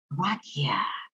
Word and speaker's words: Boracchia: So my name is pronounced Boracchia. Boracchia. There's no test after. It's okay. You can just call me. But yeah, there's no hyphen, just Boracchia.